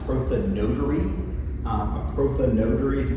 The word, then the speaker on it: prothonotary: Um, proonetary uh would probably more accurately be pronounced proa notary.